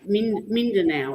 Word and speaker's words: Mindanao: Yeah, Mindanao, it's pronounced.